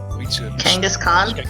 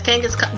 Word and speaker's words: Kangaskhan: Kangaskhan? What? Is that how it's pronounced? Yeah, it's Kangaskhan.